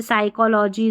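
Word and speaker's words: psychology: फिर है पीएस। पीएस ये भी मैंने बता दिया था। पीएस पीएस साथ में रहेगा। तो यहां पर जो है पी साइलेंट रहेगा। जैसे साइकोलॉजी, साइकोलॉजिस्ट और ये साम है। पीएस साथ में आता है तो पी साइलेंट रहता है।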